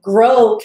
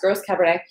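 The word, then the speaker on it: Gros Cabernet: franc got together with grow cabernet g-r-o-s gross cabernet but grow it's pronounced and and made that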